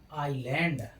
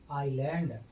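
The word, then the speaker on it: island: जब किसी वर्ड में आई और एल के बीच में एस आए तब एस का उच्चारण नहीं होता है।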